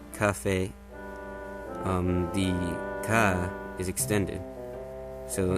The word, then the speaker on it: Kafei: led to believe that it's either Kafei or Kafei, with the accent on the fei. It's probably supposed to be a reference to café in Spanish, or just so the accent, because in Spanish the accent goes over the e.